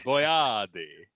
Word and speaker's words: Boyardee: that's actually how it's pronounced. Oh. Chef Boyardee.